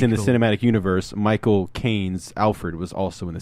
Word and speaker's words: Michael Caine: If you got the cinematic versions, you'd have Michael Caine, and then you'd have Bane, and you'd have